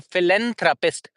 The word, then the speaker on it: philanthropist: So philanthropist in that one we have th sound which is very very soft sound philanthropist that's why we say very very short